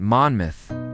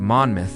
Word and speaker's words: Monmouth: And if you're wondering why we pronounce it Manmouth instead of Monmouth, it's because the name comes from the Welsh word for red, not from the equally valid moth.